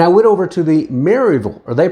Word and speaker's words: Maryville: Knoxville Tennessee and I went over to the Maryville or they pronounce it Maryville Tennessee area we actually had a home there